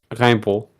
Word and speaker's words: Rimbaud: Don't pronounce the D in Rimbaud.